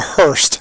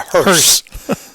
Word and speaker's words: hearse: your hers Charlie well it's not a Hearst it's a hearse if you're going to